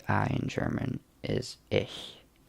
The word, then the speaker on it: ich: I so to say I in German is ish it's about IC H I brownish sometimes but it's actually pronounced according to my teacher how you say